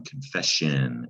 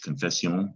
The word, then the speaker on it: confession: by way of french confession we have it in english you gotta know the s-i-o-n when you see it it's pronounced shun but it's not spelled sean s-i-o-n confession's a noun